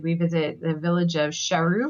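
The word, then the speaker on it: Charroux: visit the village of shahu which is c h a r r o ux and we're going to put all these in the show notes because there's no way you can hear the pronunciation and automatically assume the French spelling well especially when you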